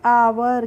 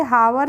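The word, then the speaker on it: hour: आर तो एच ओ यू आर को भी हम पढ़ेंगे आवर क्या पढ़ेंगे हावर नहीं पढ़ते हैं इसको पढ़ते हैं आवर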